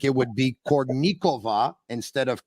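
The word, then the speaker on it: Kournikova: would say who was an expert with Russian pronunciations he would say it would be malahuff like it would be cornikova instead of Courtney Cova and Sharapova instead of Sharapova so uh let's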